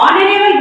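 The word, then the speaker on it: honourable: एन ऑनरेबल मैन, यहाँ भी ऑनरेबल का एच साइलेंट है, यहाँ पे हम लोग ऑनरेबल बोल रहे हैं यानी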